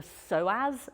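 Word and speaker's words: psoas: at a muscle called the soaz muscle it's a funny one cuz it's spelled with a p if you don't know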